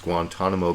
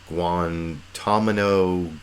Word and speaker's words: Guantanamo: especially the third time I think he mispronounces Guantanamo Bay as guantamino gay or well you